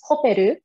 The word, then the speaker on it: Koperu: kind of a mouthful so in japanese it's koperu and in some translations in the past it has been um uh spelled out like that with a k k-o-p-e-r-u but in this new